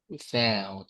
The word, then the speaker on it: without: The same with the word with. Mhm. Without, right? Without and routine. It is stressed on the second syllable.